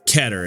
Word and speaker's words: Keter: Keter, or Keter, as you guys have told me in the comment section that it should be pronounced anyway, is not the class for the strongest abnormalities.